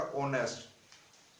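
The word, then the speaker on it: honest: Equitable, synonym होगा इसका ऑनेस्ट, H silent है।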